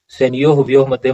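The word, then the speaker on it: सेनयोरुभयोर्मध्ये: अब कहते हैं सैन्यो हुभ्यो मध्य, उच्चारण सही कीजिए। सैन्यो हुभ्यो मध्य मतलब कहता है कि सैन्यो मतलब सेना को, और उभयो मतलब दोनों।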